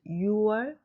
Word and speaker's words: 유월: In Korean, words for June and October are read and written as 6월 and 10월. If you write them as 6월 and 10월, it's wrong. Keep in mind, please, that this is an exception that has changed in a long history of language. 6월, 10월 without the final consonant.